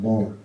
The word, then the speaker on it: Baltimore: Had to be in Baltimore, which is actually pronounced Balmer.